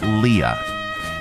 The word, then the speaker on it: Leah: Top names, common names everybody pronounces wrong. Leah. Okay, 99.9% of the time on Earth, it's Leah.